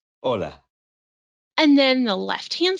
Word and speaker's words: hola: did you notice that although hola starts with the letter h it is not pronounced the letter h is